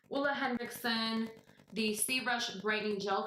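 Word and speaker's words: Ole Henriksen: the hula or all I heard videos on how to pronounces and he says his name is Uma Henriksen so we're gonna go with Ola Ola Hendrickson the see brush brightening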